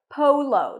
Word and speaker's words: polo: American English water and then we have the word poo to O is in go Polo the stress is on the first syllable Polo water polo water